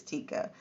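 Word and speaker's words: Tyka: uh I think it's I can't ever remember if it's pronoun pronounced Tika or taica I think it's Tikka Tikka was born in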